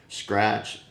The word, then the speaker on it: Skratch: I'm drinking Skratch, and it's SK, Skratch, spelled like scratch, but with a K.